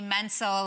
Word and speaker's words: Mentzel: Plus, it was people would say Mentzel, like mental and pencil.